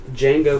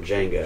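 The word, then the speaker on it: Django: DJ a g o d is silent and he's like I know and that's that's that guy that played the original D Jango hell yeah that's that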